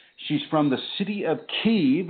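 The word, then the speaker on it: Kyiv: from the city of keave which the Americans mispronounce as Kiev and I would like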